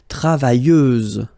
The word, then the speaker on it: travailleuse: Feminine form, travailleuse, same rule and same phonetical thing. You don't pronounce the final S, so you get travailleuse.